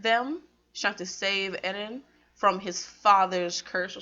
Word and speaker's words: Eren: It's Aaron.